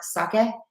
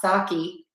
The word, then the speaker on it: sake: I know it's more sake, not sake. That's how we say it in the US.